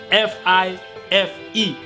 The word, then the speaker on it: Fife: usa place inaudible five but it's spelt f i f e fife right thank you so